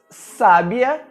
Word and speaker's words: sábia: Por exemplo, as palavras sábia, sabia e sabiá têm pronúncias bastante diferentes, e é exatamente o acento que nos indica como devemos pronunciá-las.